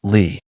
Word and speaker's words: Li: The emperor's family name was Lee, spelled li, pronounced Lee, by coincidence, by chance, by accident.